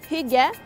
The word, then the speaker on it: hygge: It's pronounced hygge.